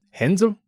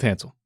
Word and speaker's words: Hansel: Actually, it would probably be pronounced Hansel, but there's no way I'll remember that, so let's stick with Hansel.